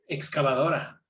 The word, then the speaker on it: excavadora: Excavadora. But you have excava. Va. Excavadora doesn't have that stressed A, right? Do you see what I'm saying? Excavadora is stressed on the O.